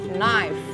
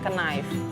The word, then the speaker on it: knife: untuk mengucapkan pisau itu pengucapan yang benar adalah nice nice nice kayaknya itu tidak dibaca Oke jangan lagi bilang Knife ya Misalnya kita bilang Itu